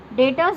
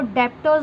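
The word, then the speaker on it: debtors: डेटर्स में B silent रखना है, आपको डेप्टर्स नहीं बोलना है, डेटर्स एंड क्रेडिटर्स।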